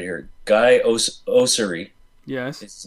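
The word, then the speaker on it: Guy Oseary: Guy Osiri.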